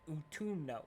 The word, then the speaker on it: Utumno: Yeah, Utumno. That's how it's pronounced.